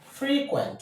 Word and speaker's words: frequent: But for the verb, the stress goes to the second syllable.